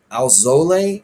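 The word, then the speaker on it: Alzolay: And Alzole is how they say it, Albert Alzole for the Cubs.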